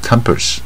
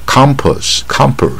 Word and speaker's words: compass: 不卷舌 compass，而不是 compass 啊，所以我们这五